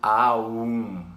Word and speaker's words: Aum: vocalização da sílaba Om é o Aum, né? Porque, na verdade, se você for olhar a constituição da palavra, tem um simbolismo ali que é o A, o U e o M.